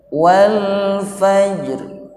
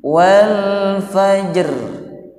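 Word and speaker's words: والفجر: Wal fajr, sama-sama. Wal fajr, jangan berlebih-lebihan. Contohnya begini, wal fajr. Wal fajr itu cara baca yang keliru. Atau yang keliru juga huruf ra-nya tidak dibawa. Contoh wal fajr, ra-nya tidak dibawa, juga keliru. Jadi ra-nya dibawa tapi tidak berlebih-lebihan. Wal fajr, sama-sama.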